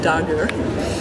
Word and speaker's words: Darger: alors à l'époque on on dire encore Henry der maintenant on sait que c'est Henry Darger qu'il faut le prononcer à l'allemande et euh ils m'ont